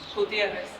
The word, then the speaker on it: Gutierrez: Gutierrez.